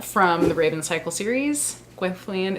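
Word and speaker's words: Gwenllian: The Raven cycle series quintilian is how it is pronounced in the audio books so that is how I say it I don't know if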